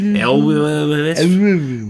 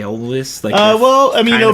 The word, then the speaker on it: Elwes: Elwes.